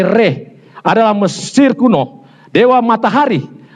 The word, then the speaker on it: Ra: Ras sering diucapkan sebagai rah, tetapi lebih tepat sebagai reh adalah Mesir kuno dewa matahari.